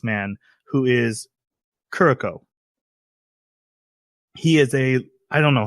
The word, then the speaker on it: Kuroko: Like turn it into almost a D, like a Kuroko.